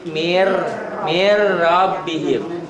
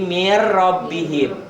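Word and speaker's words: من ربهم: Tulisannya min rabbihim. Kalau dilatenkan ya, boleh belajar sekali-kali dilatenkan. Min rabbihim. Tulisannya kan ada n-nya. Kalau laten, dibacanya n-nya hilang tuh. Jadi mir rabbihim. N-nya masuk ke ro, melebur, diidghamkan.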